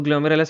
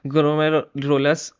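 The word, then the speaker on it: glomerulus: सो, ग्लोमेरुलस में क्या होता है? ग्लोमेरोलस इसका भाई इसका प्रोनाउंस ग्लोमेरुलस जो होता है वो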